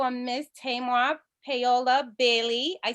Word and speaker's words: Paoli: So I'm going to call on Miss Tamar Paoli. I said it right this time, right? No, Paoli.